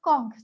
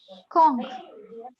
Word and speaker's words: conch: We often pronounce it as like conch, but it's actually conch.